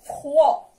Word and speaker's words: froid: Et le deuxième mot, froid, froid, froid. Répétez avec moi. Froid, froid, froid. Alors, A avec I se prononce E. Tontako, E. E. La lettre O avec la lettre I se prononce Wa.